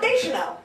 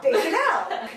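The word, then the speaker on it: Deschanel: deel deel deel yeah it's not deel no deel de Chanel I like how you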